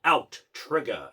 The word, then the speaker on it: Outtrigger: which I thought it was until I saw the 2 T's, and then you hear the intro, it's like, Outtrigger. It's like they should have put a space in it if they're going to say it like that.